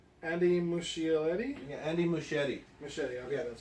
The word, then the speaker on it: Muschietti: Muschietti, okay, that's how you pronounce it.